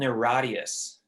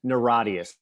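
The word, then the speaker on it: NIRATIAS: because it's low hanging fruit it's will you pronounce a new record oh oh yeah yeah it's it's called neradius naradius that's all you had to say and i'll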